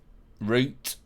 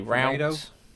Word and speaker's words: route: I mean, for me, it's the pronunciation more than anything of, you know, we say aluminium, you say aluminum, we say root, you say route, tomato.